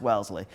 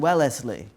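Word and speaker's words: Wellesley: But my social worker that day said, "Listen, Irene, neither her or or or I knew how to pronounce Welsley. We were pronouncing Wellsley."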